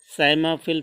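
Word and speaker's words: psammophile: P silent है, साइमोफिल fish.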